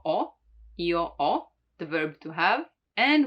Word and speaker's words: ho: Now, the H is always mute in Italian, so you don't pronounce it, like in hotel, or as you know, io ho, the verb to have.